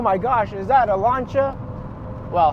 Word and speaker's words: Lancia: gosh is that a lancha well how they pronounce it lania it's not it is lancha lancha I like the fact